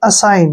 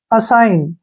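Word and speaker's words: assign: लिखेंगे और कैसे पढ़ेंगे A double S आई जी एन ठीक है ना जी हमने नहीं पढ़ना है इसको पढ़ेंगे हम ए का उच्चारण हम यहां पर अ करेंगे और डबल एस को हम श पढ़ेंगे और आई का उच्चारण आई के रूप में ही करेंगे ठीक है और एन का उच्चारण न करेंगे इसको हम पढ़ेंगे असाइन क्या पढ़ेंगे असाइन ठीक है ना अब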